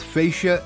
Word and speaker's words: fascia: up the pronunciation and it seems both fascia and fascia are correct with fascia being more of a medical term so there's that here's